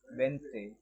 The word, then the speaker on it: Wednesday: At the same time, the word Wednesday का real pronunciation है Wednesday।